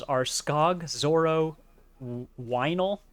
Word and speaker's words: Weinel: Their names are Skog, Zorro, Weinel, spelled like vinyl but with a W, Philip, and the Pet Hen.